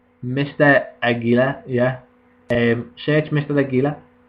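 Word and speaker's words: Águila: pronounced that right Mr agila yeah um search Mr a got to say it with like you know a little AA yeah Mr Aila like like Lilian garia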